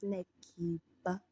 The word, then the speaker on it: Nakiba: Okay, so my name is Nakiba. Nakiba, sometimes pronounced Nakiba, Nakiba, Nakabe.